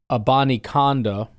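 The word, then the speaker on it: Abanikanda: The Green Bay Packers have added Israel, and then they say how you're supposed to say it, Abani Konda.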